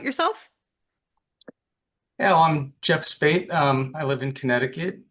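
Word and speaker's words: Speight: Three best friend because we are welcoming to the pod uh Jeff Spate. Is I'm so sorry. Is that the correct way to pronounce your last name?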